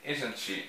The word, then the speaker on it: isn't: Repare que eu não pronuncio o T, né?